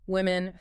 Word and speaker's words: women: Yes, that first vowel sound is like the e in win, not o or ooh. So different from men. A classic error for Portuguese speakers like woman. Getting win right instantly sounds more natural.